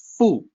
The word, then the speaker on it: 腹: It is the first significant character out of this entire line, so I'm highlighting it, and I want to share the pronunciation with everyone. Fu, meaning stomach.